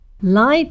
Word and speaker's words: live: Live, on the other hand, pronounced like lie but with a V, live, means to see a performance in person or to be connected to electricity.